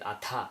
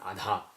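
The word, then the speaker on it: अथ: Similarly, if you take this word, it is atha, not adha.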